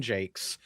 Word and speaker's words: Jacques: It was written by a man named Brian Jakes. Um, it's spelled Jacques, but he pronounces it Jake.